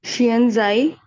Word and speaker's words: 现在: Xianzai. Pay attention. Xianzai. Both of the syllable at the first tone.